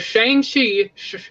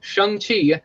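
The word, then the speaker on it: Shang-Chi: who are watching if shane she no not shang chi i'm saying it wrong shang chi that's how it's pronounced if that movie doesn't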